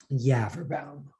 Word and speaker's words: Yafferbaum: isn't it okay and my name is yafferbaum rhymes with cadaver town oh good phew okay